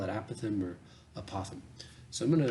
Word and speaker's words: apothem: Some people pronounce it apothem, almost like an opossum, but kind of a weird lisp. Either one is totally fine, whichever one that you prefer. I say apothem.